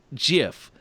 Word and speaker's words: GIF: web illustration, declared it should be pronounced GIF, J-I-F, like the brand of peanut butter, rather than with a hard G sound.